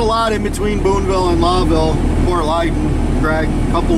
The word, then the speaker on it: Lowville: Okay, guys, we're coming up into Lawville, New York. Everybody gets it pronounced wrong. It's actually like Lowell when you pronounce it. It's a owl instead of an O, but it's spelled L-O-W.